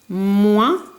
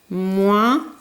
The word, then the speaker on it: moins: Le foin, un coin, loin, moins, avec ici une lettre muette, le S, qu'on n'entend pas, un point, de nouveau une lettre muette, cette fois-ci c'est le T.